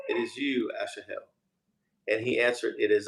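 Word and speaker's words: Asahel: him said again to Asha Asha Hill or what how do you say it yes yeah that's not Ashley Hill turn aside from following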